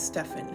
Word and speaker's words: Stephen: Finally, the masculine version of my name, Stephen, but I feel like some people would pronounce the PH version as Stefan, so this one's tricky.